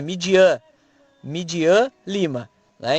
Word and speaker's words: Midian: fala o nome, é Midian, Midian Lima, né? Então tem uma pronúncia mais, a fonética maior tá no an, né? Midian, né?